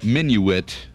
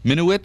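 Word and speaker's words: Minuit: realize the dutch colonizer peter minuet minuet minowitz no you said it right the first time did i menu it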